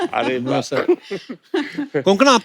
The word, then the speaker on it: कोंकणा: और आई am sure अगर आपको कोई पंजाबी मिले, वो हमेशा कंकना बोलेगा। कंकना, कोंकणा, क्यों साउथ में तो कणकणा नहीं भी बोले।